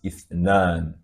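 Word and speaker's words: اثنان: Then number 2 is written in this form, and it is pronounced as ithnan, ithnan, 2.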